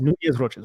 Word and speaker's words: Nunez-Roches: So it's always Nunez-Roches.